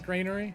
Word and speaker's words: Grainery: it there he is wait gray ner or was I saying it right oh you also pronounce it Grainery I see you bird